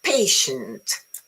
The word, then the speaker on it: patient: So let's see, which syllable is stress in the word? Which one? The first, the second, both equally or none? Yeah, the first is patient.